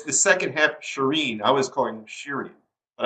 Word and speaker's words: Shirin: Yeah, it's the second half, Shireen.